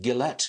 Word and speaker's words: Guillette: your name pronounced right is it gillette is it is that right it is that's exactly right thank you like the razer blade company but spelled and pronounced differently okay i'll take that